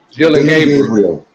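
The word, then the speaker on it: Dillon Gabriel: Dylan Gabriel.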